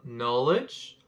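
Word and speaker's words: knowledge: je ne sais pas comme dans le verbe qui dérive du nom norridge le cas dans le nom ne se prononce pas aussi on arrive maintenant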